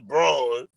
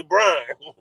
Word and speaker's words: Braun: Even though his name is Braun, but it. sound like you know going to say this ain't going to say it correctly they gonna say Brian let's chill out cuz